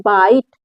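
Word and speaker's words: bite: अच्छा ठीक है देखिए बी आई टी ई इसको पढ़ेंगे बाइट देखिए सब में आ करके य जो लास्ट कंसोनेंट है उसी उसका उच्चारण रुक जा रहा है ई का उच्चारण किसी भी वर्ड में नहीं हो रहा क्यों नहीं हो रहा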